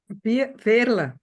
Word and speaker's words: Veerle: Veerle. Veerle. Veerle. It's Veerle. typical Belgium name.